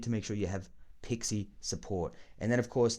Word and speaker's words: PXE: called pixie support or pxe support but it's pronounced pixie support which is when your computer's network adapter